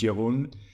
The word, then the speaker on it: Jeroen: Netherlands and that's why my name sounds a little weird it's pronounced Yun as a kid I